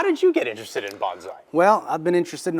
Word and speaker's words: bonsai: well you can say Bonsai it's really you just combine the word bone and Sai so it's bonai Bonsai yep bonai exactly okay um how did you get interested in Bonsai well I've been interested